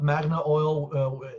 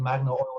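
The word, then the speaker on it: Magnil: find and it's called magnet oil or am i pronouncing it wrong it's you can call it magna oil it's actually spelled magnol without the a m-a-g-n-i-l but many people call it magna oil as well uh but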